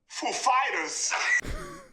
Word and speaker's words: Foo Fighters: like he said he asked us if the accent was on Foo or Fighters and we know who he is like of course we know how he speaks and we said uh the accent is on Fighters actually he goes up